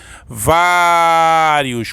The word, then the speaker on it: Vários: Vários. Qual é a sílaba mais forte, professor? É no vá.